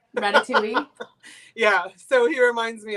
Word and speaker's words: Ratatouille: all the time Isaac I say rat tattooi oh yep Ratatouille yeah so he reminds